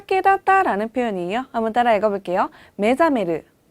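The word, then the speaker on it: 目覚める: 메자메르. 네, 이때 주의하실 점은요. 원래 이 매를 떼고선요. 이 단어만 사용하실 때는요. 사메르라고 읽는다는 거예요. 근데 앞에 눈목자가 붙었기 때문에요. 이때는 읽을 때 메사메르가 아니라 메자메르라고 읽는다는 점이에요.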